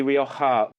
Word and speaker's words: Rioja: It's actually sort of halfway between an H and a K, really. Okay, yeah. Well, I want to say it like the cool kids do. And we say O. It's a long O rather than an O.